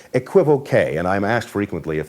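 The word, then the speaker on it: equivoque: it is sometimes called equip okay and I'm asked frequently if that's the proper pronunciation to which the answer is both yes and no the word in French is pronounced equi voke so a qu okay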